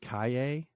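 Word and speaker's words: Calle: I've heard her now is pronounced Kaye I'm not really sure how you get that from c-a-l-l-e the it's the the sound that the Double L makes in um uh in like Spanish or south or other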